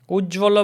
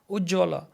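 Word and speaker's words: উজ্জ্বল: But we say Ujjwal, Ujjwal. Akankha, Akankha. So in written Bengali, you will find like Akanksha. But in spoken Bengali, you will hear native Bengalis pronouncing like Akankha, Ujjwal.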